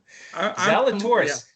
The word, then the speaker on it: Zalatoris: Will Zalatoris. Not Zach Gaffel, what's his name? Gaffel. Right, I can't pronounce that one. I can pronounce this one. Zalatoris, the Z-Man.